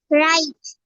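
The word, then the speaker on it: wrong: ডাব্লিউ এর পরে আর থাকলে ডাব্লিউ সাইলেন্ট হয়ে যাবে।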